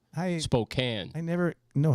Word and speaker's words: Spokane: I'm glad I It's from Spokane, Washington. Not Spokane. Spokane. I never know how to pronounce that.